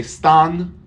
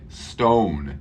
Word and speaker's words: stone: o stone stone we don't say Stan we say Stone and remember the O all English day the O sounds like this oh oh thank you very